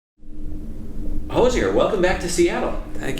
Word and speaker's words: Hozier: Hozier. Right. I hesitated there, but it rhymes with cozier.